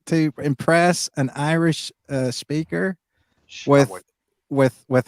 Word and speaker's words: Samhain: most people call it Sam Hain, but it's not a Shawan.